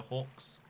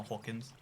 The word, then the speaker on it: Hawkins: Welcome to the stream, Mr. Hawks. No, Hawkins.